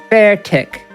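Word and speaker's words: Beartic: Bear tick. In a typing adventure, the way they pronounce it is very fun. Oh, is it? Yeah, the lady's just like, bear tick.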